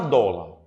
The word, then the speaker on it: dólar: também apresento para vocês observe a palavra dólar quantas vogais eu tenho na palavra dólar duas quantas sílabas eu tenho duas Qual é a sílaba mais forte o dó ela é oxítona paroxítona paroxítona paroxítona terminada em R portanto a palavra dólar tem acento a palavra túnel túnel